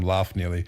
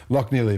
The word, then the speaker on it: Loch Neely: I've been calling him Laugh Neely. Loch Neely, of course, he's Irish, so I should have known that, but I didn't know he was Irish.